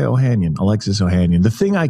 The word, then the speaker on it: Ohanian: to me well okay oh ohanian is what i say i feel like there's a there's a much more armenian way of doing it which is like ohanyon but i just say ohanian alexis ohanian the thing